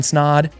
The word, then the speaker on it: Snod: My name is Ryan Snod. It rhymes with odd, and we'll see you in 2024.